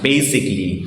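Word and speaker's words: basically: কোন প্রোনাউন্সিয়েশন নেই প্রোনাউন্সিয়েশনটার এই বেসিক্যালি প্রোনাউন্সিয়েশনটার রাইট প্রোনাউন্সিয়েশনটা হবে বেসিকলি বেসিকলি বেসিক্যালি I right two it mango এরকম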